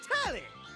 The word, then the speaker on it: Telly: The name's Telly, rhymes with Nelly, like...